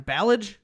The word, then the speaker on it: Ballage: uh kalyn i can this is a name i never pronounced her ballage yeah yeah it's like the bellagio yeah see i always